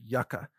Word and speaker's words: yuca: grow or I guess in English you would pronounce it Yucca but I'm used to calling it Yuca because that's the you know Spanish pronunciation of it so Yuka is easy